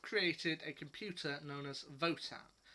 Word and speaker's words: WOTAN: a computer known as voton spelt wotan but pronounced votan and once it's kind